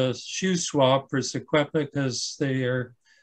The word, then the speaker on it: Secwepemc: And here in faint red letters, in faint red letters here is his attempt to spell the name Shuswap, Secwepemc, which is closer to the pronunciation, which is Secwepemc today.